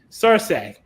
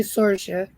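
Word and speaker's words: Saoirse: You know, the people of my great-grandfather's origin pronounced it Cersei. The aunt It's actually Sorsha.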